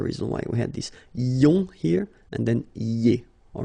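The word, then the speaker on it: -ions: So now let's see nous, and nous goes like I-O-N-S, okay, and it should be pronounced ion. Remember, final S is not pronounced.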